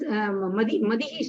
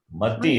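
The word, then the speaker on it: मति: This is there is Madihi Shabdaha. That is a Strilingaha, Madihi Shabdaha, same. There is no Madi. Still, you have to correct your pronunciation. It is after so many classes still Mati, not Mati.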